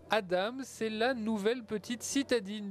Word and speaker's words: Adam: présentation avec Emmanuel Albisser adame ça s'écrit AD mais ça se prononce Adam c'est la nouvelle petite